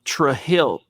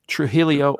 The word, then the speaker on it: Trujillo: a couple of kids whose last name was tre hill t-r-u-t-r-u-j-i-l-l-o they pronounced it tre hill no oh no yeah tre hill and then i've heard and i've met other people with the exact same last name who pronounced their last name trujillo or trujillo i've seen three different ways to pronounce it so zack's right mike